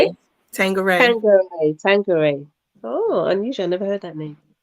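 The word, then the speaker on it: Tanqueray: Tangeray.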